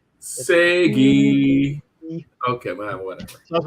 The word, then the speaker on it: SEGE: And so look at SEGE and say it like you're saying Sega, but replace the A with an E. Segi.